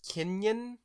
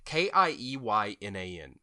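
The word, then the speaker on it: Keiynan: I think his name is Kenyon Lonsdale. It's KieYnan.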